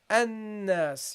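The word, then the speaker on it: الناس: line, we start here, then you would say you would say annas. You say it's a hamza, but because this is in the middle of speech, so it is, you continue with reading, yeah, you continue with reading here, so that's why you have to drop this.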